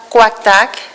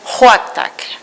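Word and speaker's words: Quaqtaq: Et les Inuits ne prononcent pas Quaqtak, lui appelle le village Huaqtak, comme on dit happy en anglais, comme Huaqtak.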